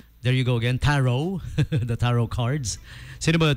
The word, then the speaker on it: Tarot: Cinema 1 Tarot, or some say Tarot, silent T daw.